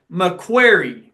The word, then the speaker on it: McCreary: So the great debate, how exactly is McCreary pronounced? McCreary County. So there's like a Q in there, right? Yeah, that's how we say it. Okay, no, we want to get the local take. So McQuarrie. Yes. Okay, all right.